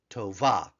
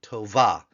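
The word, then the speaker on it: טובה: noash Forte K Tova Tova again a two- syllable word Tova and then the feminine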